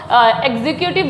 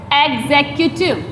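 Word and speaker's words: executive: इसको एग्जीक्यूटिव बोलते हैं ज़्यादातर, है ना, एग्जीक्यूटिव ही वर्ड यूज़ किया जाता है, लेकिन ये एग्जीक्यूटिव नहीं है। इसका सही प्रोनाउंस जो है वो है एग्जीक्यूटिव, एग्जीक्यूटिव।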